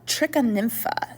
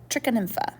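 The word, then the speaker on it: Trichonympha: inside of the termite's gut which is called trica nympha it's spelled t-r-i -c-h-o-n-y-m p h a i didn't give myself quite enough space there trichon infa um okay I'm not going to move that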